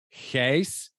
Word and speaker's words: Gijs: and also for you to know it's not Gus it's Hayes but I guess I'm one of the rare that can pronounce it in the state so Gus thank